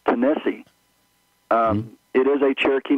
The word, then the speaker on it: Tennessee: that uh the state of Tennessee is properly pronounced tenesse um it is a Cherokee name and most